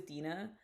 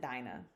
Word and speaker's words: Dinah: to the average Christian and say who is Dina they're not gonna know even if you pronounce it Dinah they're not gonna know they're gonna be like